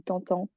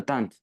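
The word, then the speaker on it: tentent: et ce mot-là tant est-ce que tu es sûr que ça se prononce ça se dit tantend oui sûr non tente tente en plus là c'est c'est le verbe tenter donc les autorités c'est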